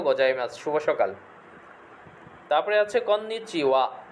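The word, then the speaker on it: こんにちは: তারপরে আছে কন্নিচিওয়া, শব্দের শেষে হা থাকলে ওয়া উচ্চারণ হয়, কন্নিচিওয়া, শুভ অপরাহ্ন বা হ্যালো।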